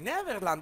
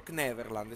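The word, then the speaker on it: Kverneland: Neverland o Kneverland? Si pronuncia la K.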